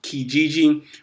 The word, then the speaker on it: Kijiji: Before that, he had marketing roles for a company, I believe it's pronounced Kijiji, which was an eBay company.